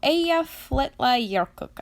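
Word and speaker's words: Eyjafjallajökull: and now here's the actual way that you pronounce the name of the volcano from an Icelandic man so AEF let Leo cook I definitely said that wrong but not only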